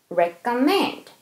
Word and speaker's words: recommend: 그리고 mend의 강세 있죠? 그런데 rec에도 살짝 강세 있으니까 무시하시면 안 되는 거죠. recommend.